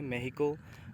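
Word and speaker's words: México: अभी भी मैक्सिको, जिसको अगर स्पेनिश में प्रोनाउंसिएशन करेंगे मेहिको, वेनेजुएला, जो कि ये जो मैक्सिको है ये मिडिल अमेरिकन कंट्री है, ये बोल सकते हो, है ना।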